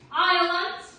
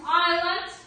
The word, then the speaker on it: island: ocean, Island, island, island. island. Вот здесь вот S выделили красным. Почему? Потому что не читаем.